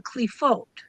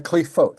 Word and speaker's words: Qliphoth: Okay, so they call them the Qliphoth. The Qliphoth, thank you for, I've never heard it pronounced, right?